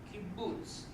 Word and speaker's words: kibbutz: It's an oo sound, kibbutz.